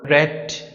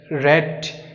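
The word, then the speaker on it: read: উচ্চারণ করার সময় বলব রেট রেট রিডের পাস্ট ফর্ম হচ্ছে রেট কিন্তু বানান ঠিক থাকবে এইযে বানান ঠিক থাকবে উচ্চারণ ভিন্ন।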